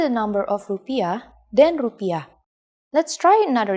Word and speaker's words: rupiah: in Indonesian in Indonesia the currency is the rupiah please pay attention to this word pronunciation rupiah Let's try to say prices in